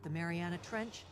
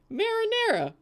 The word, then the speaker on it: Mariana Trench: I don't know how to pronounce it correctly. Marinara.